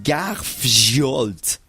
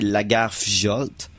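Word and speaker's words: Lagarfljót: Prononce les J comme des Y, ça va donner un coup de main. L'important, c'est que c'est tout simplement, ça veut dire monstre du lac Lagarfjolt. Donc, Fiolte. C'est déjà un peu plus proche. C'est pas tout à fait ça, mais ça y ressemble plus. Il prononce pas les J.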